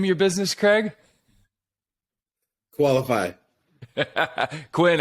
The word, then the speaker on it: Koalafi: Financing can be fun, especially when you have Craig Leffew with, how do you pronounce the name of your business, Craig? Koalafi.